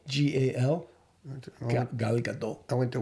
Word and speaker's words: Gal: Gail Gadot. How do you pronounce her surname? Gal, G-A-L.